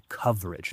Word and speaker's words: coverage: Ojo ahí a la pronunciación de coverage, no es coverage, es coverage, es como más corto, coverage.